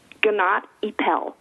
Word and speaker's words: Gnatt Epel: the are you there will you please pronounce i am good morning your last name for us ganat ippel gennady powell okay sounds very exotic i know and